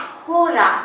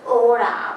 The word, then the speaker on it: hora: the end and oda it is not horror it is ora because h is not pronounced in spanish k oris or you